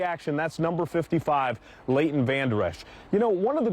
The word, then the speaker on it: Vander Esch: But hey, go Vander Bosch. Vander Bosch. His name is Vander Esch.